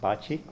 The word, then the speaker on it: baci: it originally started because BSE I in Italian is pronounced bocce and that stands it